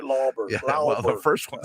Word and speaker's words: Lauber: I said it right, Lauber.